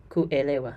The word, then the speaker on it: kuelewa: Kuelewa, the verb kuelewa. Notice the stress again on the next to last syllable.